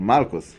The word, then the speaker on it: malkos: young people so the it is called malkot or Marcos in the Ashkenazi pronunciation what does it mean